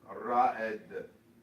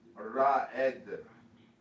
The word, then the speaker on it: Raed: This is pronounced Ra'ed. Ra'ed.